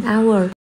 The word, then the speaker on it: hour: Chữ hour mình đọc là âm câm, chữ h đó, cho nên nó bắt đầu bằng nguyên âm. Vậy ta dùng an hour.